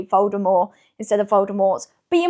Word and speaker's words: Voldemort: Yes, I said Voldemort. Apparently we've all been saying it wrong, and I'm trying to train my brain to say Voldemort instead of Voldemort.